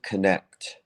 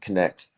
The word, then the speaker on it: Knecht: And his name is Joseph Knecht. I think it's pronounced Connect.